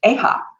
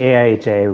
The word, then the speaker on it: AIHA: industrial hygiene association or a-ha welcome Ben I thanks it's actually a iha we don't try to for that pronounce it it's just a little too weird all right no worries